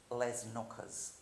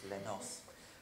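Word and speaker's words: Les Noces: And so I got put on Stravinsky's Les Knockers, because the crew didn't know how to say it, of course, Les Nos.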